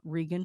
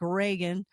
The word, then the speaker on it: Regan: foren you guys and it looks like Reagan but it's rean and and I gotta keep making myself I had to phonetically spell it and write it down so I'd say rean and then the links